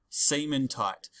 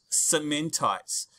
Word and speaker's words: cementite: this other stuff called fe3c or called excellent cementite now i worked with another teacher who didn't call it cementite he called it semen tight right to help you remember i have a